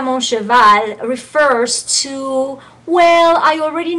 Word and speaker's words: cheval: And do say the ending L. I know that's not in the rules of pronunciation. I mean, well, it's an exception of the rules of pronunciation, right? Okay. Yeah, okay. But in this case, we do say cheval.